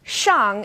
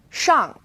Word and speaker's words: shang: And this one's a bit tricky because the initial SH is pronounced like sh is in English. X is somewhere in the middle. So let's take shang and xia as an example.